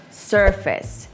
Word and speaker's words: surface: You say it that way because you see the word face and you know how to read it and you just say, yeah, okay, I know how to say that.